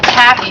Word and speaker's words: tabby: It's spelled T-A-B-B-Y. Tabby. It was originally called Tappy, T-A-P-P-Y, because of the process to get it to set. They had to tap it, and then it changed over to Tabby.